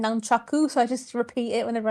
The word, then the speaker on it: nunchaku: The proper Asian pronunciation for nunchucks is nunchakus. It's just short abbreviated for like Westerners for nunchucks.